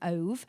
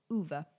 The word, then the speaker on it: Ove: So all the way through the book, my brain wanted to call him Ove, but it's pronounced Uva because he's Swedish.